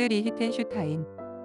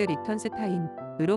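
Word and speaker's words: Lichtenstein: 슈타인 있니다 로이 폭스 리히텐슈타인 독일로 독일식 발음인 로이 폭스리 히텐 슈 타인으로 불리기도 하지만 영국식 발음으로는 로이 폭스 리턴스 타인으로 불린다 1923년 10월 27일 미국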